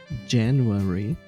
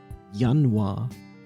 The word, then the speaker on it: Januar: So the English word is January, but the German one is Januar. Januar. It's basically exactly the same word, minus the Y at the end.